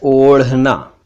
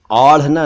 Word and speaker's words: ओढ़ना: एक शब्द है ओढ़ना, ओढ़ना, आढ़ना नहीं, ओढ़ना।